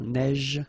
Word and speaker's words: neige: so same thing here, a neige, final E not pronounced, you only pronounce this j, same thing here, averse, okay, S is pronounced, the E is not pronounced.